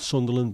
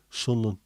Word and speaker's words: Sunderland: two years ago uh it's not Sunderland by the way there's only two syllables in Sunderland if you're up there Sunland hended now God's waiting